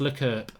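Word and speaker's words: L'Équipe: It's pronounced L'Equipe.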